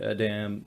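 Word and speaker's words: a'dam: Yeah, you've seen the Adam, or what did you call it? An Idom? Idom, I think is how they pronounce it in the audiobook.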